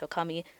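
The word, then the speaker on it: 女将: which is not correct often when you combine kanji together they have certain pronunciations when they're combined in a certain way and in this case it should be pronounced Okami and that's the joke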